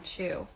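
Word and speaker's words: Chugh: sing or my own cheu oh I pronounced it the U that sounds like the U and good and a hard GH at the end chug chug I'm not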